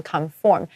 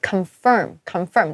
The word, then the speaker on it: confirm: 还要确认完，你还要确认那天有没有航班，所以我觉得超级麻烦。就是或许呢，我们应该先确认 confirm，同学不要念成 conform，因为我知道台湾人有的时候我们会念成 conform 哦，它是 confirm，这个要注意哦。我们要先确认我们到底哪一天可以去哦，到底每个人就是有空档的时间。